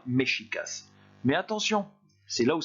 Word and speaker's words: Mexicas: de la deuxième ligne se prononçait au XVIe siècle mexicas. Ce n'est pas la prononciation normale du X. Partout ailleurs en espagnol, vous ne prononcerez pas le X de cette manière-là, vous prononcerez X. Donc là, pour ce mot-là, concernant le Mexique, vous allez dire mexicas.